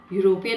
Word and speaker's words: european: the consonant sound similarly any mary is a european european i just told you again the sound it is creating is u in these cases the pronunciation of u is u and y is a